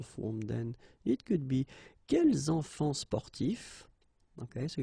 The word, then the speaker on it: quels enfants: When we're talking about the plural form, then it could be quels enfants sportifs. Okay, so you noticed here that I've been making the liaison.